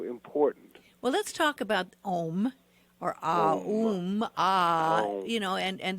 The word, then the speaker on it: Aum: all you are correct ohm as it is pronounced and spelled AUM that's correct there are a